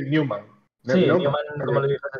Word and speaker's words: Neumann: pronuncié Newman.